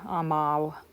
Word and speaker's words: amav: So the perfect stem, in this case, is amav, amav. The V is pronounced like a W, but amav, if you're thinking about spelling.